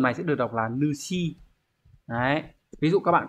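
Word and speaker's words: 主: Trong trường này sẽ được đọc là Nushi.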